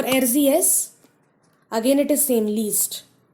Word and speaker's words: liest: But for do, least. L-I-E-S-T. E has changed to I-E.